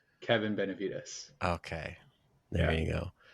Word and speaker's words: Benevides: Today's guest, Kevin Benevides. Did I say it wrong even though we just went over it? Yeah, you did, but it's all good. Okay, correct me then. Let's get it right. Kevin Benevides.